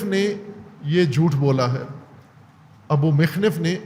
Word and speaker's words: ابو مخنف: یہ ابو مخنف نے یہ جھوٹ بولا ہے۔ ابو مخنف نے ابو مخنف تلفظ کرتے ہیں، ابو مخنف ہے اس کا